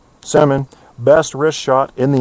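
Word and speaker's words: Semin: I'll give you the Russian pronunciation. Alexander Sman. Yep. Simmon. Semen.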